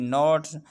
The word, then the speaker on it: knot: यहाँ पर नोट है, KNOT नोट।